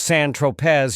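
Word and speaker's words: Saint-Tropez: When you bought the eightball of Coke on San Tropé, pronounced San Tropz, you didn't tell Mr.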